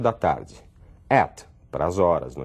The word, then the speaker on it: @: então John psmi @ esse @a em inglês eu pronuncio eu digo at quer dizer localizado num